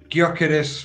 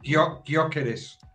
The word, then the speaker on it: Gyökeres: I want Gyökeres from Sporting Lisbon.